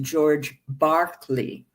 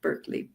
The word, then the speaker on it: Berkeley: in England, an Anglican bishop, whose name is pronounced George Berkeley if you're British, not Berkeley, Berkeley.